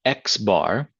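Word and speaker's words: x̄: The sample mean, denoted by X bar, so it's going to be a capital X with a line above it, pronounced X bar, is calculated by using the data values in the sample that you have.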